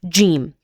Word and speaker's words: ج: G is uh a letter uh the the sound of it is very very similar to the um the the J in jam for example or or the J in the word just.